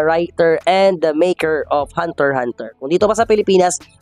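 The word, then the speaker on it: Hunter × Hunter: tawag namin noon is Hunter x Hunter Kasi nga may x sa gitna so tawag namin Hunter x Hunter but Actually it should only be Uh Uh pronounced or said as Hunter Hunter lamang so dito sa ating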